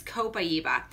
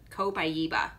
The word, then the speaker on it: copaiba: backwards for me but copaiba copaiba doesn't look like it would be spelled like that there we go can